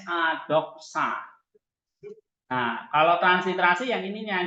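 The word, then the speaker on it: δόξα: pronunciation ini pengucapannya ini loh Nah ini ini pengucapannya jadi b o k s a doksa Nah kalau transliterasi yang ininya nih transliterasi berarti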